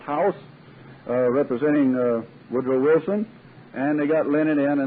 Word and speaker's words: House: was a colonel h.a u.s pronounced house representing uh woodrow wilson